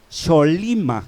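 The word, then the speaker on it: שָׁלֵם: Ahora bien, hermanos, estando este rey de Salem, que por primera vez encontramos la palabra que dice Salem, en hebreo se pronuncia Sholima, que quiere decir Salem, luego se deriva Jerusalén.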